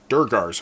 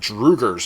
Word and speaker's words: Durgar: Durgar's homestead, not Drugar's homestead, or whatever you said. You said it wrong, buddy.